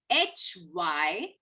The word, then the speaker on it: hymn: So we say it, N is silent. Then next word is A-U-T-U-M-N, autumn. Autumn. The next word is H-Y-M-N.